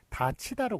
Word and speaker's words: 닫히다: 그 발음은 요게 디귿이 넘어가면서 티읕이 되고 그 다음에 이 앞에서 구개음화가 되기 때문에 다치다로 그렇게 발음이 되죠.